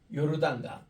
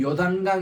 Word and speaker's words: 요르단: 이 베다니에서 요것이 일어났는데 요르단강 요게 이제 요르다 있니다 요르단이란 말은 뭔가이 단에서부터 내려온다 요르다 요르 흘러내린다 이런 뜻입니다 우리 따라합시다 요르단 요르단 그 요단강 이렇게 하지 마시고 요르단 해야 그 맞는 표현이에요 요단강 하지 마시고요 요르단이 이렇게